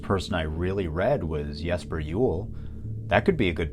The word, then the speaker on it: Jesper Juul: you really shouldn't trust me with how to pronounce his name. Yes, so my name is Jesper Juul.